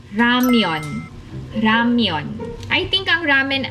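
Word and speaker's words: 라면: Actually, ang pronunciation ng ramen sa Korean ay ramyeon.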